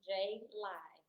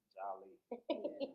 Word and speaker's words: JaLi: And if you can't find that for whatever reason, it's just JALI on Instagram and JALI on Facebook. And y'all, it's pronounced JaLi. Because I know a lot of people, they try to. Jolly.